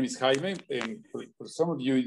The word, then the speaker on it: Jaime: that thing in there i always say that this is the closest thing that you can do to my name h-y-m-i-e that that would sound